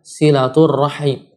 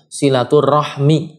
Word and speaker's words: silaturahim: tepatnya yang mana ia secara ejaan yang benar adalah silaturohim silaturahmi yang bener gitu silaturohim Bukan silaturohmi Ya bukan silaturohmi tapi silaturohim jika ke dengan acara bacanya dalam bahasa Arab Namun ternyata kalau kita